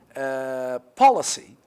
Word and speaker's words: policy: Policy. Policy. The stress is on the first.